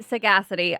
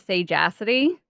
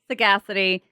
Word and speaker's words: sagacity: Sagacity. I always want to pronounce it. Sage acity. That's how I was about to pronounce it. Sage acity. Sagacity.